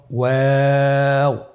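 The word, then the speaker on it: واو: আপনারা আমার সাথে বলুন ওয়া ও দুই ঠোট গোল করে মাঝখানে ফাক রেখে হরফটি উচ্চারণ করতে হবে।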